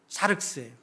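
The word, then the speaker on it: σάρξ: 발음이 좀 어렵죠. 샤륵스예요.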